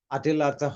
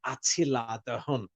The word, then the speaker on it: Attila: history um they had a leader called Adela Adela in English they pronounce it more with the T atila yes but that doesn't mean English is correct so now in many